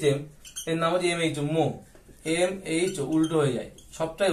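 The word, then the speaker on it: mho: ওহম, ও এইচ এম, এর নাম হচ্ছে MH, মো, MH, উল্টো হয়ে যায়, সবটাই উল্টো।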